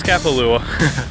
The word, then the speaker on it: Kapalua: I don't even know how to pronounce that. Yeah, it's Kapalua.